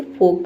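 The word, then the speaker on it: folk: इनमें से कोई भी लेटर होगा तो एल साइलेंट होगा। फोक मींस होता है लोग। फोक फोक नहीं इसे फोक पढ़ते हैं।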